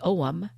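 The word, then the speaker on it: ogham: an othing stone with the Celtic symbol the OM that's spelled o g h a m o m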